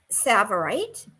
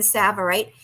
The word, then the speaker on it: Tsavorite: had an amazing green Tsavorite, and that is a green garnet. It's spelled with a T, which is so interesting. It starts with a T, but sounds like an S.